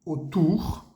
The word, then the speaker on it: autour: Autour, A-U suena O y la O-U suena U.